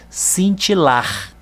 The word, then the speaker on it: cintilar: Vejam que eu vou falar a palavra e vocês vão ver que a última sílaba é que eu vou falar com mais intensidade. Olha lá, cintilar.